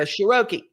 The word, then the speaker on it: Sheroky: right it's you know it's like vowel consonant vowel is always an uh long sound so you go shiroki that's how you say